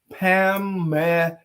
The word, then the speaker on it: Pamela: Her name is Pamela. That's 3 syllables.